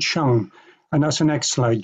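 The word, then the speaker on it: sheng: It's pronounced shung.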